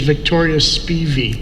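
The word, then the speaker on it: Victoria Spivey: according to people who knew her the correct pronunciation of the name is victoria speevy speevy okay very good thank you she said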